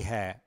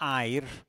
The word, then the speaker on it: hair: Okay, curly hair. Pronunciation. It's not air. Okay, if we say air, you go to England, America, Australia, people will look at you and say, what? Okay, so curly hair.